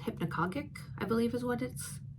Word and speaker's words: hypnagogic: There's a state called hypnagogic, I believe is how it's pronounced.